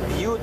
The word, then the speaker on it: Butte: And so they decided to confuse the public, and they changed the spelling and they changed the pronunciation. So it became Butte, B-U-T-T-E. Now when Edgar Poe finally